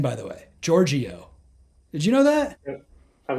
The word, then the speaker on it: Georgiou: That's how you pronounce her name, by the way. Georgiou. Did you know that? I've never been sure, no. I've always been saying Georgiou, but I've heard her say it. Georgiou.